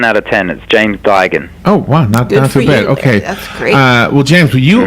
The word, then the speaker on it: Duigan: it was 10 out of 10 and James Duggan oh okay well James you are probably the